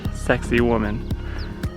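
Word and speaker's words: Sacsayhuamán: guide book last night that that's pronounced sexy woman has this trail straight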